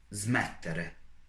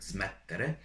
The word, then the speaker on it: smettere: for example, a word smettere, you have double T. Those are called doppie, doppie. And when you are pronouncing a word, you need to point out a little bit this letter that is doubled.